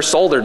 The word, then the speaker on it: solder: I'm not a professional coder, and I've never soldered before. And Bill's like, it's pronounced solder.